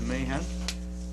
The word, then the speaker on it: Mahan: the police department for mahan's liquor David Rausch so moved second and I think that's mahan's is it Mahan okay I correct my pronunciation to Mayhem um any further discussion